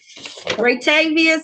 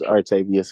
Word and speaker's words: Artavius: Ratavius. Yes, ma'am. This is Artavius. I'm sorry. I know you don't know how to pronounce it. Everybody get it. Say it one more time. Artavius.